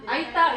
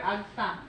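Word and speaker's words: Aeta: Aita is pronounced Aita and also called Aita or Agta.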